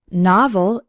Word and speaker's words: novel: words rock and not novel has two syllables and the stress is on the first one novel novel can be a noun